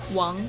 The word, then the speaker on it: Wong: Taylor we have how do you say your last name Wang or Wong Wong Wong Wong and Chris Major k